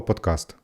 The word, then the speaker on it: подкаст: до речі кому цікаво як правильно вимовляти слово подкаст чи підказ в описі до цього відео ви зможете знайти посилання а для тих хто зовсім не хоче гуглити Я одразу скажу правильно варіант це слово подкаст Але на мою думку